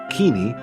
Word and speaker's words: Kinney: Charles M Kinney or as some in earlier years pronounced it kini was born a slave